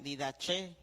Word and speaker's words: Didaché: de qué de elefante y con acento en la e didaché didaché y el pastor